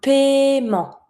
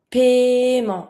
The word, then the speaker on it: paiement: A payment, un paiement. Paiement. Don't pronounce the E that you see after the I. It's mute.